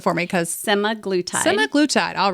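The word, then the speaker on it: semaglutide: something called simaglitide I I go ahead and pronounce that for me because semi-glue time semi-glutide all right how did you decide to incorporate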